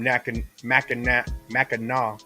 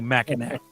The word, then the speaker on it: Mackinac: Heck Shout out Chad Bennett from Mackinac. Glad to be fuck part that. of the madness. Hard C. Mackinac. Mackinac. Hard It'll C. always be Mackinac, Chad.